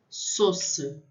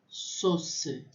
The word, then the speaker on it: sauce: A U tem som de O. Sauce, sauce.